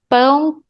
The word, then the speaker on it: pão: Look at the pronunciation, nasal sound. Pão. If you hold your 2 fingers on your nose like this, you're gonna have so much nasal sound.